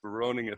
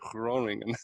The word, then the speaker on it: Groningen: I'm like, why is it say in my notes, rasp, Groningen, Groningen, right? It's how to pronounce it.